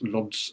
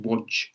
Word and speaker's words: Łódź: It's from so I'm going to mispronounce Lodz now, but Lodz. I think it's pronounced Łódź, but Lodz in Poland, which is just to the west of Warsaw, a big city, Łódź.